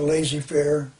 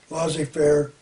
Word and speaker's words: laissez-faire: John Maynard Keynes also wants to end the lazy Fair laissez-faire it's pronounced laissez-faire capitalist system why why would he want to